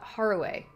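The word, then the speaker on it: Harue: Okay, so uh Zenoved says it is uh Haruway. I I thought that cuz usually like when you see like an E, it's usually pronounced A in uh Japanese. So, Haruway.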